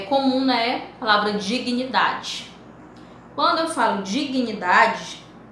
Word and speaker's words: dignidade: Então, dignidade. Então, esse aqui, dignidade, é um encontro consonatal separável, onde eles, você pronuncia o G, pronuncia o N, mas que eles ficam em sílabas diferentes.